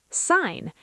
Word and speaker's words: sign: Sign. S I G N. You say sign. Design to pronounced design.